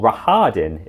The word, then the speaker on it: Rahadin: Rahadin as well, or Rahadin is apparently the pronunciation that the audiobook narrator went for.